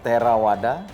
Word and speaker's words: Theravada: Mahayana Fajriana Fajr fajrana kalau di budhis itu biasanya V itu dibacanya W ya Oh jadi di bacanya terawada terawada Mahayana Mahayana wajrayana